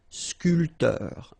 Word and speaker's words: sculpteur: This P here is not pronounced. So sculpteur, un sculpteur.